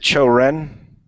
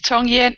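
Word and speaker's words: 抽烟: Is it Cho Ren? Is that smoking in Chinese? Cho Ren. How do you say smoking? Oh, you're still muted. Yeah, sorry, I'm muted. Chong Yen, yes, you're right.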